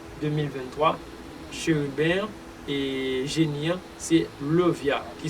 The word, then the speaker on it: Lauviah: Nous comptons pour le 17e génie qui c'est Lovia, qui s'écrit L-A-U-V-I-A-H.